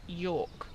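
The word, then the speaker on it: Jork: I think the town you're thinking of is called York, spelled with a J. Okay. J-O-R-K.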